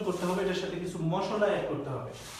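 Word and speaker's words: mai: দিই, একটা উদাহরণ দিই, যেমন ধরুন এম আ ই, এটার উচ্চারণটা কি হবে? এটার উচ্চারণটা আমার আগে দেখতে হবে, এখানে হচ্ছে আই মানে এ, আর সামনে বাদ রইল হলো ম, তাহলে কি হয়ে যাচ্ছে জিনিসটা? জিনিসটা হয়ে যাচ্ছে হচ্ছে মে।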